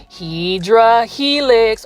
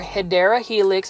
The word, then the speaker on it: Hedera helix: we have our favorite hedra helix or hedera Helix is the correct way to say it but this is